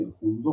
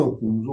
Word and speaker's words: Hunza: 1100 साल पुराना फोर्ट है, जो कि गिलगित बल्तिस्तान का ओल्डेस्ट मोनूमेंट तारीफ करता है। आप सबने हुंजा सुना है जी। हुंजा का actual accent, actual pronunciation, original नाम हुंजो है, H-U-N-Z-O, 1891 में जब ब्रिटिश